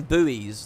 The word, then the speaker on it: buoys: are called boys but i think americans call them buoys don't they which is probably a better way of describing them because let's be real that's how it's spelt and the difference in the pronunciation probably goes all the way i like this look